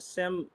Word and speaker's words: SIM: Um, so a sim. So, I keep I keep wanting to call it a seam. I got so used to calling it a seam. I got so used to the European pronunciation.